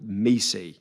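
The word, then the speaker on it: MECE: called barara MTO um called Mei and Mei um even though apparently Barbra pronounces it me but um we will call it Mei which is mutually exclusive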